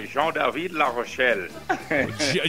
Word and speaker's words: Jean-David Larochelle: Por favor, diga Jean-David Larochelle. Jean-David Larochelle. ¿Así está mejor? Es francés, o Jean-David Larochelle.